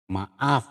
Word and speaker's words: maaf: Maaf itu kita tulis F ya, tapi pada pengucapannya maaf, P.